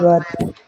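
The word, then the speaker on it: ض: আর দদটার উচ্চারণ কোথা থেকে হবে? আমাদের জিহ্বার গোড়া ডান সাইডের মাড়ির দাঁতের গোড়ার সঙ্গে লাগবে, ডান পাশের মাড়ির দাঁতের গোড়ার সঙ্গে লাগবে, লিখে একটু শক্ত আওয়াজ হবে, দদ, দোয়াদ।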